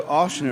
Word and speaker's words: Ochsner: So Ochsner is how it's pronounced.